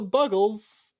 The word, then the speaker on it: Buggles: Which is a song by I keep forgetting if it's pronounced the Buggles or the Bugles. I think it's the Buggles. Is it?